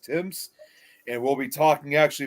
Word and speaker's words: Thames: And which even though it's spelled THAMES, it actually is pronounced Timms.